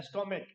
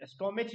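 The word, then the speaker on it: stomach: क, सी एच का मतलब क होता है, स्टोमिक, स्टोमिच नहीं पढ़ते, स्टोमिक पढ़ते हैं क। अब तो थोड़ा प्रोनाउंसिएशन सुधारना होगा इंसान को, अगर इंग्लिश पढ़नी है तो विदेशी भाषा है तो थोड़ी टाइम लगेगी बट सुधर जाएगी। तो स्टोमिक है नहीं, ये च नहीं है, ये क है, क।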